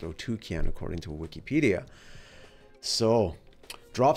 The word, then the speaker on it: Otyken: and O otuken otuken right that's how it's pronounced otuken according to Wikipedia so drop some comments Below